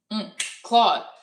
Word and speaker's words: Claude: Boom. Claude. What's up, Claude? Rhymes with mod.